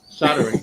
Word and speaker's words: soldering: Soldering gun or a soldering iron. So in Australia we say soldering iron like it's spelt with an S-O-L-D-E-R.